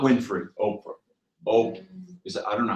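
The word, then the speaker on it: Ophrah: Not Winfrey, Oprah. I don't know how you spell it.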